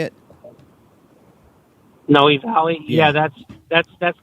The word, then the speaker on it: Noe Valley: valley neighborhood is that how you say it noe valley yeah that's that's that's not near discovery bay